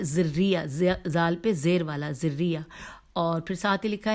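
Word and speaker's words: ذُرِّيَّة: میں ہجے کرتی ہوں، زال پہ دمہ ہے، رے پہ زبر ہے، فتح ہے، اور پھر یہ پہ تشدید ہے، تو ذریہ، اور پھر لکھا ہے ذریہ، زال پہ زیر والا ذریہ، اور پھر ساتھ ہی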